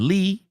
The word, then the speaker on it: Li: His Chinese name is Lee Ziggen with Zigen being given by his master on the mountain and Lee being pronounced similar to the English word English word Lee his middle name.